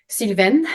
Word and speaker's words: Sylvaine: and foremost it's a French uh first name silven is how it's pronounced in French I didn't know that when